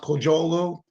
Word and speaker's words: Kocaoglu: Last name is pronounced Kocaoglu, and it was actually Kodak, not Xerox.